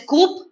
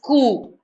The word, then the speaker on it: coup: of people political coup you don't pronounce it as coop it's pronounced as coup okay so political coup